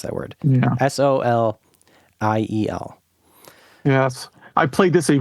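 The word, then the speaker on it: Soleil: In the PAL regions, it's It's called Solier. I can't pronounce Solier. I can't pronounce that word. Yeah. Soliel.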